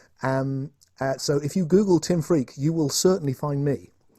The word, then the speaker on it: Freke: a very funny name it really is pronounced freak but it's spelled fre ke it's an old English name and so if you google tim freak you will certainly find